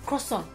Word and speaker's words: croissant: croissant。